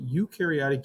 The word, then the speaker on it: eukaryotic: eukaryotic organisms all right eukaryotic you true think you true it rhymes okay what is the